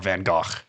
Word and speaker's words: Van Gogh: You know, everybody knows Van Gogh, right? Or Van Gogh, if you want to pronounce it French correctly.